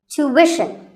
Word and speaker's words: tuition: british english so what's the hidden sound here well the first syllable is easy two american or two british but after that it's not ishan it's wishin tuition you have to put the what sound there so tuition word number